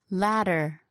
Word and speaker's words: ladder: English for words like Ladder, or, Twitter. even though the words are spelt with a D and T, the sound that is made is with the tongue tapping the roof of the mouth.